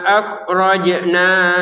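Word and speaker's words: أَخْرَجْنَا: Wimma akhrojna lakum. Khnya di sini ya. Jangan dipantulkan. Jimnya yang dipantulkan.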